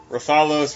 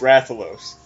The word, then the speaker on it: Rathalos: or Ballo well it's like stupid how to pronounce uh monsters for Monster Hunter like Raytheon wrathion rafalos Rathalos yeah and like ruffalos damn it it's just